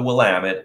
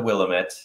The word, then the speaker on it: Willamette: then you have the willamette valley that's what everybody knows about oregon it is pronounced the willamette not the willamette um and it's oregon